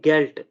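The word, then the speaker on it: Geld: लेकिन एट द एंड ऑफ the word as इन गेल्ड, ठीक है, अगर डी जो है वो किसी वर्ड के एंड में आ जाए, ठीक है, गेल्ड, owned, D is always डिवॉइस्ड एंड इट is pronounced as अ टी, ठीक है, हम उसे टी की तरह प्रोनाउंस करेंगे, ठीक है।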